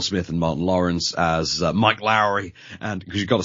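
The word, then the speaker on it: Mike Lowrey: reunion of Will Smith and Martin Lawrence as Mike Lowry and because you've got to say it that way Mike Lowry is how you say it because that's how Martin Lawrence pronounces it and uh Marcus Burnett and the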